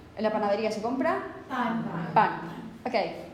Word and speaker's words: pan: En la panadería se compra pan. Okay, can you pronounce pan in Spanish? Pan, pan, pan, pan, pan. Okay, is the sheet moving? No. No, because there's no aspiration.